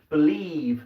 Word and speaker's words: believe: So if you listen, believe, so that IE is making a long E sound, okay?